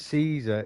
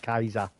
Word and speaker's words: Caesar: yeah Jenga yeah yeah jingus car and Julius Caesar is pronounced Julius Kaiser Kaiser Kaiser was he a chief Kaiser Chief